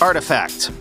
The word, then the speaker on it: RTFKT: that Nike nft story as rtfkt is actually pronounced artifact thanks for pointing that